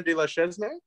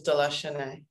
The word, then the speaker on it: de la Chesnaye: supposed to pronounce it it's um and then my last name is delusionaire see i was the